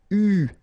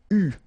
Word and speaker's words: eu: And this is pronounced, so it's an exception because normally you should pronounce it differently, but, so it's an exception, it is pronounced U, okay? U, that's the way you should pronounce it.